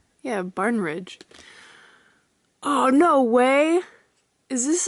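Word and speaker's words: Barnidge: Yeah, Barnridge.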